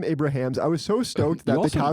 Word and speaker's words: Abrahams: Written by Jerry Zucker, David Zucker, and Jim Abrahams. You know what? I still said it wrong. It's Jim Abrahams.